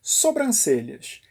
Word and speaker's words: sobrancelhas: você deve ver duas sobrancelhas mas infelizmente tem muita gente que insiste em colocar 1 m no meio da palavra mas acredita elas não estão ali para fazer sombra Sabe aquela assinatura abreviada